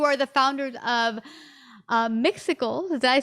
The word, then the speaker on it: Mixicles: have you you are the founders of uh myxical did i say it right you did i